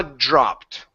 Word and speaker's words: dropped: Her jaw dropped.